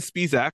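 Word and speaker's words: Spisak: have babies and when they don't uh Jason speac which I learned is the proper pronunciation of that last name he is voicing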